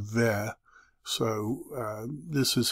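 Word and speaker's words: ו: And I follow the pronunciation ve.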